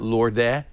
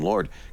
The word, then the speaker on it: Lorde: we all get a copy of the I got new one Lord too. single. Really? Yeah. No kidding. Is that how you pronounce that, by the way? Yes. It's not Lorde. No, it's Lord.